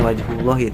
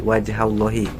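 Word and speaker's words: وجه الله: Terus wajhallahi itu bukan wajhullahi tapi wajhallahi. Karena wajha itu taklil ya mafuljlih itu melakukan hal yang serupa.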